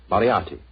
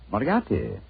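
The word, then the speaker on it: Moriarty: I'm afraid I'll have to begin calling it the way it looks. M O R I A R T Y. Mariotti. Moriati.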